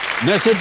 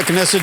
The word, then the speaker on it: Knesset: नेसेट या कनेसेट जैसे भी उसको प्रोनाउंस किया जाए, इजराइल की एक सदनीय